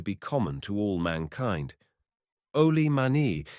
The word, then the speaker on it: oli mani: Oli mani is the native pronunciation of old man which by society islanders talking Saxon is applied indiscriminately to all age things and persons whatsoever.